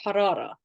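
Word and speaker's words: حرارة: Med Global fever is harara harada you start with that Airy H sound and then you sort of roll your r's to get the next part fever now if we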